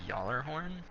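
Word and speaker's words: Gjallarhorn: that came out and i know it is y'aller horn it's just easier to take out the dollar horn who says it that way that's the proper way to pronounce it it is actually the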